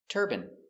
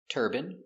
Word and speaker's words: turban: turban adrenaline heroin doctrine determine and urine Let's practice. These two words are pronounced exactly the same. turban He's wearing a turban.